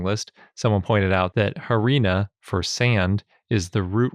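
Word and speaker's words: harena: someone pointed out that harina for sand is the root word for arena which makes the pronunciation very easy to figure out because just arena with an H at the beginning and a bonus etaly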